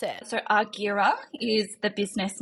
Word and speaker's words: Argira: did that come about and how do you pronounce it so aguira is the business name and that is named